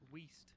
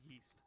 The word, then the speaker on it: Weast: He basically sent two pictures of him when he was like fat and a picture of him, Weast, not Yeast.